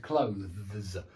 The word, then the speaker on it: clothes: It's really hard to pronounce that word, clothes. You do seem to have to do a lot of work with your tongue and your teeth. And so be aware of that one. It's certainly not two syllables.